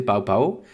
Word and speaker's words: Pow Pow: Alors, il faut bien prononcer Pao Pao, et non pas Popo à la française.